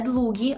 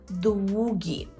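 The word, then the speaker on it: długi: Так, не «длугі», а «двугі», «двугі». Це є «довгий».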